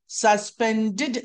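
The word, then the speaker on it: suspended: సస్పెండెడ్ సస్పెండ్ సస్పెండెడ్ సస్పెండెడ్ ఇక్కడ pronunciation rule చూస్తే ఎప్పుడైనా ఇంగ్లీష్లో డిఈడి వచ్చిందనుకోండి ఎండింగ్ లో డిఈడి ని డెడ్ అని కాకుండా డిడ్ అని చెప్పాలి. డిఈడి ని డిఈడి కాకుండగా డిఐడి గా చెప్పాలి రాసేది డిఈడి రాస్తామండి కానీ పలికేది డిఐడి గా పలకాలి.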